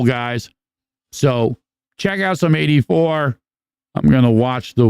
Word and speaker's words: AD4: This is a band called 84, but it's spelled AD4.